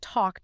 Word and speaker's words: talk: That is exactly why calm doesn't rhyme with cat, and talk doesn't rhyme with tack. The dark L alters the preceding vowel, and then essentially vanishes into the M or the K.